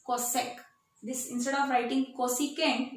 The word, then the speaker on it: cosec: But how will you pronounce this? Cosec.